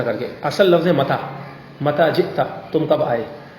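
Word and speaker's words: متى: اب متا کو بعض اہل عرب بگاڑ کر یوں کہتے ہیں لہجے میں ایم تھا. کیا؟ اب ہم نے تو متا پڑھا ہے تو یوں کر کے بگاڑ دیں ایم تھا.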